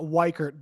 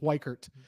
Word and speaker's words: Weichert: say your last name actually uh Wert but you wouldn't I forgive you because everybody butchers it but it's Wert wer um